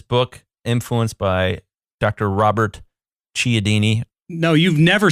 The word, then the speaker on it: Cialdini: to say it you know how to say chaldini yes you know how to say it cialdini okay dr robert cialdini wrote this book called